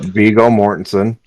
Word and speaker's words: Viggo Mortensen: The Aragorn, Viggo Mortensen, I think is how you pronounce his name, Yep, Viggo Mortensen.